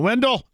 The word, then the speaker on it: Wendell: My mom would, if you got a D and an E and two L's, it's a Dell.